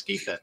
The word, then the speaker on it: Gytha: start of the show thank you Ross it's geetha um do you think there's a cool name